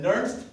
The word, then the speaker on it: Nernst: And that moment is called the Nernst potential. So now you know what that word is. How do you spell it?